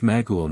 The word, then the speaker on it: Macaul: It is pronounced Magul now.